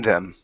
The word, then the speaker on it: them: okay so between them instead of dem with addy it's a th okay so it's with a notebook between them mm-hmm with another missing